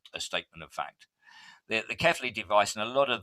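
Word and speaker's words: Cefaly: The Kefali machine, however you care to pronounce it, I say it's Kefali. You might call it Kefali, or I'm sure there's loads of other things. It's Belgian. There's probably a Belgian pronunciation for it as well.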